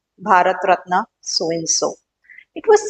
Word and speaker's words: Bharat Ratna: your Padma vibhushan padmabhushan bhat ratna we say it right Bharat ratna so and so it